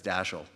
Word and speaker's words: Dashiell: would do pronounce it with the emphasis on the second syllable but as Dorothy Parker said dashel Hammett was as American